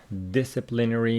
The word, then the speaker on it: disciplinary: action here Longman says disciplinary means the adjective stress on the first syllable disciplinary disciplinary relating to the punishment